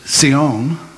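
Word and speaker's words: ציון: The word Zion in Hebrew is Sion.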